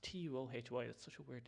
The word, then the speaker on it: Tuohy: Or Tuhi. Tuohy. Yeah, it's just Tuohy.